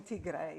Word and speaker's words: Tigray: And so the place you're in is Tigray, is how you pronounce it? It's in Tigray.